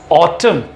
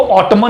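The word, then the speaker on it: autumn: So just like ये देखिए, ऑटम है। क्या है ये? ऑटम। इसको ऑटमन नहीं बोलेंगे, लेकिन ऑटम की स्पेलिंग में N लास्ट में आ रहा है।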